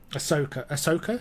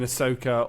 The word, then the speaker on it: Ahsoka: I didn't like what's the new one that's just come out with Ahsoka?